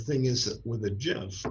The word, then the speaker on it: GIF: of the originals was Jeff yes it is pronounced like the peanut butter just like that animal